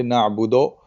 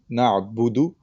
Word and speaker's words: نعبد: When you say the O sound, it should be a little bit like it should rhyme with book, right? Na'budu, and not bow, like in bow and arrow. So it's a okay. slight difference. So you should try to rhyme it with book, na'budu, instead of na'bodo, right?